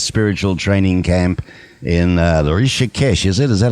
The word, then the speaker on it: Rishikesh: That in 68, they visited his spiritual training camp in the Rishikesh, is it? Is that how you pronounce it, in India? Right, in Rishikesh, yes.